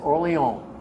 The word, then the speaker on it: Orléans: As an MP in Orléans, France, Orléans is the proper way you pronounce it, I pulled a lieutenant colonel over in the car.